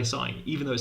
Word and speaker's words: sin: people pronounce this one people pronounce this one sign even though it says sin what's going on how